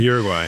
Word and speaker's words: Uruguay: It's Uruguay. That's the correct way to say it? Uruguay. Yeah. Okay, my bad. I've been saying it wrong for a decade.